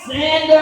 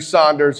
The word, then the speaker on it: Saunders: Uh she said my last name wrong. Um it's fine. That's how much she loves me. Uh it's actually Saunders.